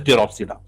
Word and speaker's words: Pteropsida: Then Lycopsida, then Spinopsida, and here P is silent, it is called as Pteropsida.